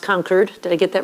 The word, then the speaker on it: Concord: Chris, it's really great to be here and what a delight to be at the I'm told it's pronounced Concord.